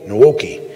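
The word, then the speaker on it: Nwoke: main running back uh chris how did we pronounce this name is tyshare nuoki nowoki yeah n w-o-k-e and he's a solid uh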